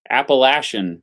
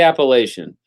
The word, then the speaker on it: Appalachian: they call it what do they say they say Appalachian Mountains I think I got that right they don't say Appalachian so I got I